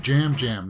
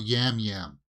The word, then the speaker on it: Yam Yam: So they're saying jam jam, not yam yam. They're pronouncing the Y as a J, right?